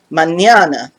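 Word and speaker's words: mañana: looks like well yeah use the ny sound that you use for the english word canyon the wiggly line is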